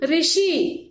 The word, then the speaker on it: ऋषि: तो ये भी स्वर है, इसका देखो स्वर क्या है, रू। अब ये रू से ऋषि, इसका उच्चारण ऋषि ऐसा भी करते हैं।